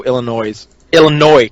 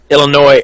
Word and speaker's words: Illinois: Yeah, we're in Joliet, which is just south of Chicago, Illinois. God damn it, I hate when I pronounce the S. Illinois, and we decided we were going to go out and have some fun.